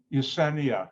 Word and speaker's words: Yesenia: with your first name so yesenia is that the correct way to pronounce it yeah it's a correct concentration